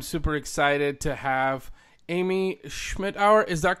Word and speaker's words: Schmittauer: All right, everyone, today I'm super excited to have Amy Schmittauer. Is that correct? Am I pronouncing that correctly?